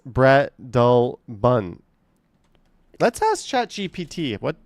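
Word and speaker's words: Breadalbane: In Toronto, Bredelbin is pronounced Bread Albin. Common mispronunciations: Bread Albane, Bread Albane. It follows a Scottish pronunciation where Albane becomes Albin.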